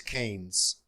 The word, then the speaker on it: Keynes: I'm struggling with the pronunciation of this man's name, and I think it's important. Let me get that. The pronunciation is Keynes.